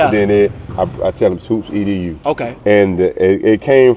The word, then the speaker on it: HOOPSEDU: this Hoops is it called Hoops Edo or Hoops Ed Hoops edu okay Hoops Ed so what you said first is how people pronounce it then it I tell them Hoops edu okay and it it came from my background